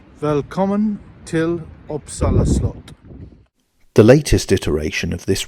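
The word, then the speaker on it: Uppsala slott: welcome to uppsala Castle or as the locals say common till oppsala slot the latest iteration of this remodeled Castle now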